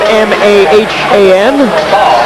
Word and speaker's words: Mahan: it on sterling mahan he spells his name m-a-h-a-n but he pronounces it mahan bray's content just to